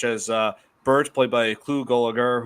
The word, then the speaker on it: Gulager: Bert, played by Clu Gulager, who I believe Gulger. I always have mispronounced his last name.